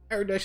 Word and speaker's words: Aradesh: Wow, I kept saying the name wrong. Aradesh is our leader.